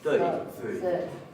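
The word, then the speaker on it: þau: Pero recordemos que este pronombre no se pronuncia thou, sino que se pronuncia thøy.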